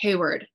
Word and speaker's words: Hayward: then hayward h-a-y-w-a-r-d um which in america i have to say hey word i can't say hayward anymore because then people spell it incorrectly but to repronounce my name like word or something like that it's like yeah w-o-o-o-d instead of a-r-d so it's hayward um and then the